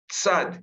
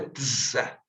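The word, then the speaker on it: צדי: Tsad, como eu disse para vocês na aula anterior, é como se tivesse um som de TZ ou um som de TS, né? Ele é mais forte que o S. Então, é tza, tza, né? Eu não vou falar só S, vou falar tzaz, né? Ele tem um som mais forte.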